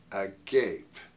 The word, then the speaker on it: agape: but this love we're talking about here is agape love I love hearing of the definition of AG g a p Agape that's not how we pronounce the Greek word